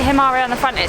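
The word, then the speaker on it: Himarë: o'clock it doesn't say himare on the front it says it goes to hamari and borsch i think okay we hope anyway we did say we were saying it wrong we keep saying hamari it's tomorrow five five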